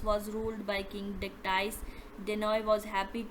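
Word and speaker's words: Danaë: सबसे पहले है डेनॉ, यहाँ इसे हमने पढ़ा डेनोई। परसियस, पोलीडेक्टीज, मेडूसा, एंड्रोमीडो, ठीक है, इसे इस तरह पढ़ना है।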